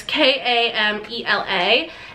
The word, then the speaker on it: Camela: I also this one I think it's pronounced Camilla Camilla yeah it's kam ela and this is what